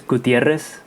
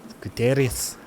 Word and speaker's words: Gutierrez: Yeah, you got to roll them. So if I say it the right way, it's Gutierrez. Gutierrez.